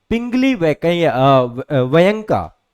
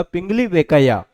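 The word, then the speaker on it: Pingali Venkayya: यह हैं पिंगली वैक वयंका। ठीक है? बहुत कम लोग इनका नाम जानते हैं। पिंगली वेकैया। माफ़ करिएगा। पिंगली वेकैया है ना?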